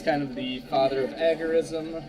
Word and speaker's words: agorism: of the father of agorism or agorism actually is proper pronunciation the proper pronunciation comes from the Greek Agora which is an open market so libertarian new libertarian